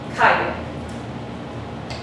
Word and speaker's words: calle: Which part of this word got emphasized? The CA, right?